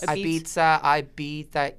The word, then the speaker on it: Ibiza: Speaking of exciting, you went to, I pronounce it, it always sounds weird when I say it, but Ibiza? Yes, Ibiza.